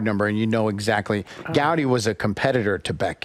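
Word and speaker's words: Goudey: I don't know I how to pronounce this a g u d y sheet G say it again oh gouty yeah so you used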